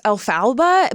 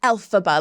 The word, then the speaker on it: Elphaba: Like I got like roasted online because I thought the name was pronounced Elphaba, but it's like Elphaba. Like I put the emphasis on the wrong letter.